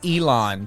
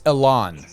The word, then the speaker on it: Ilan: I kept saying Elon, but it's Ilan. You honestly, everybody pronounces it differently, and you got both of the main pronunciations. So it all works for me, like I said.